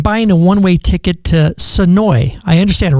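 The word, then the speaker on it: Senoia: Sonoy, not Sonoya. Yes. Okay. My next guest says yes, Sonoy, because I understand if you say Sonoya, the people in Sonoy will get very mad at you for pronouncing the A.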